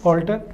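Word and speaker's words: altar: है बदलाव या बदलना अगला जो वर्ड है उसकी स्पेलिंग है ए एल टी ए R pronunciation same ही है ऑल्टर यह स्थान इसको अपन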